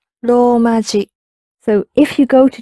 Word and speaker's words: ローマ字: And you'll notice when Mickey is pronouncing ローマ字, it's a long ro, ローマ字. ローマ字.